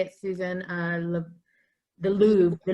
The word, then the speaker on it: Louvre: The Louvre. The Louvre.